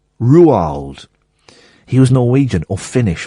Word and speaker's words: Roald: And the only thing I picked up from it was that is not pronounced Roald. It's pronounced Ruald. Ruald.